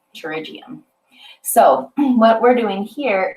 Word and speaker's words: pterygium: um uh how do you say that uh pterygium pterygium so what we're doing here is we're going